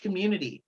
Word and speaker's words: QMOONITI: It is spelled QMOON, so like the moon, that's the feminine bent to it there. ITI. So QMOONITI, Community. And I started that in